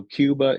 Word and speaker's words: Qbah: It's Qbah, but it's spelled differently. So it's Qbah. So Cuba is Qbah, and then we also have the SanRico page, which is SanRico Film Music.